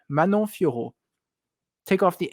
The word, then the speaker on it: Fiorot: So when you leave this video, I don't want to hear a T at the end of her name.